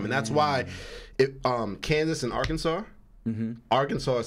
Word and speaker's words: Arkansas: Right, Arkansas. They don't pronounce the last S because it's French.